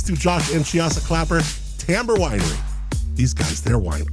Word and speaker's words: Timbre: Go to Tamber, Timbre. Yes, that's how you say it.